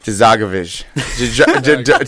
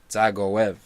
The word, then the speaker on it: Dzagoev: Dzagovic. That's not bad. Dzagov. No, that's terrible. Gov? Zagoev. Gav? Zagov? The D is silent. Zagov? Zagoev.